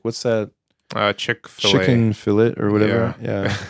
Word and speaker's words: Chick-fil-A: like what's that uh chickfila chick fet or whatever yeah it's funny I I think it's it's pronounced uh Chick-fil-A okay yeah but yeah like uh it's spelled like chick fill or something right but it's